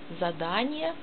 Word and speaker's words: Задание: Задание, Sie lesen Transkription, Betonung auf A, Задание, auf zweite oder dritte Silbe. Die Betonung ist deswegen auf zweite Silbe, weil das Wort ist länger und besteht aus drei Silben und nicht aus zwei.